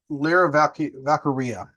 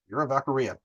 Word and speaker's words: Lyra Valkyria: But Lyra Valkyria, Lyra Valkyrie, like Valkyrie. I was like, duh, Valkyria. Lyra Valkyria.